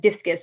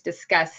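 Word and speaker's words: Disqus: And it's funny because I used to be on a social media platform I called it Discus, but I think it's Discuss. It's QUS is how they spell it.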